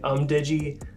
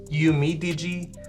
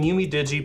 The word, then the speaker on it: UMIDIGI: I completely missed the I in there and I was calling it UMDIGI, but there's another I, so it's UMIDIGI.